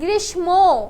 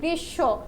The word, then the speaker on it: গ্রীষ্ম: এখানে কি ম রয়েছে অনেকে আমরা উচ্চারণ করি গ্রীষ্ম এরকম কিন্তু কোন উচ্চারণ উচ্চারণ হবে গৃস্য কি লিখছে এটা উচ্চারণ